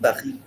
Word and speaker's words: Paris: Paris. So you see, they put a stress on the last sound of the word, each word. J'aime Paris. Hmm. Pahi.